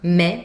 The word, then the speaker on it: mes: So mes lunettes, open sound, mes, final S, you do not hear it.